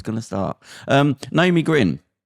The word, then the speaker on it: Gryn: great g-r-y-n it's g-r-y-n how do you say it i say grin so people can hear grin my father used to say green so it sounded a bit english um it got the